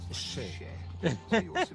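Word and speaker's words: še: Le mot orge en sumérien se prononce chè. Donc un sumérien voit cela et dit ah, chè.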